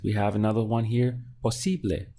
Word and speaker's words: posible: Posible. Three syllables. Posible. So this is the syllable before last here.